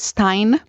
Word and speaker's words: Stein: How do you pronounce it? Stein? Yes. That's why I loved when you said it was Decluttering the Mind with Stein. I've been looking for a rhyme for years, and you found one for me.